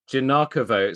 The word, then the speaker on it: Giagnocavo: you pronounce your surnam janako J janako so the G the second g is silent it is the second